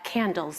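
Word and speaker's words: CNDLS: of inclusive pedagogy at candles that's how we pronounce that acronym CND DLS the center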